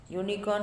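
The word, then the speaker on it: unicorn: यूनिकॉर्न में कौन सा साउंड आता है? य का साउंड.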